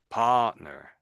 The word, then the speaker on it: partner: You It's It's where the emphasis is really. I think it's I think they're putting emphasis on this little bit here. Partner. Partner. And I think you're sort of you're splitting the word here. You're saying part and then nur. And I think I'm just saying partner.